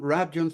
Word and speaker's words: Rabjohns: we're going to have an interview with rapones from New South Wales Australia okay well welcome here it's nice to see you okay it's rjon the right way to say your name absolutely